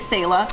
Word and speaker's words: Selah: people are kind of like go back and forth with how to say it. It is Selah.